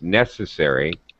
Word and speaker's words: necessary: Sy necessary yes uh make sure you hit first syllable stress it's necessary all right higher pitch on the first syllable but that's it I